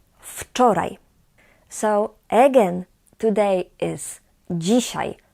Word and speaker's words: wczoraj: And yesterday is wczoraj. Wczoraj. Wczoraj była sobota. Please note that the W here in this word is pronounced as f. F. Wczoraj.